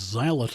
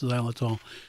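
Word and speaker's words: xylitol: have the the it's it's spelled with an X it's like xylophone but it's xylol and it's it's a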